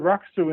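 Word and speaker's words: rakusu: yeah okay got that listen what they swallow the u the middle you oh yeah rock soup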